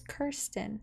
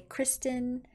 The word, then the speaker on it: Kirsten: or may not know, my name is Kirsten. In the past, people have either not been able to pronounce Kirsten, or they would just say Kristen, Kirsten, Christian. That one I hear a lot.